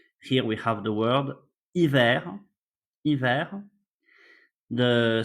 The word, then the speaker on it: hiver: H, you will see it's a letter that when it starts a word, we don't pronounce it.